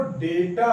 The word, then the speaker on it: डेटा: गलत उच्चारण करते हैं डेटा जो है वह डेटा है ना की डाटा यह डाटा नहीं है यह डाटा नहीं है इसे हम डटा प्रन करेंगे तो यह डेटा है तो डेटा क्या है डेटा वह